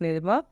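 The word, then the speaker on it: nid: अब देखिए, यहाँ पे ड का साउंड साइलेंट हो जाएगा, आधा रहेगा। ओके, साइलेंट है नी।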